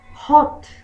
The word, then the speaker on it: hot: cotton cotton soft cotton hot hot en inglés americano lo suelen decir más como Hot No tan a pero tampoco tan o la pronunciación Look at